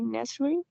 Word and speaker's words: necessary: right the next one it could be with four or three syllables necessary or what you think necessary four syllables what if you try with three syllables only I think that it will be Neary all right excellent